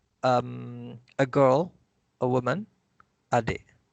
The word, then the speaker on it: adik: And the K with the glottal stop.